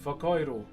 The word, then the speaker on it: whakairo: How do you say the Maori word for wood carving? Whakairo. Rusty and Twiggy, thank you very much for the roses. So WH in my language, or Te Reo Maori, is an F.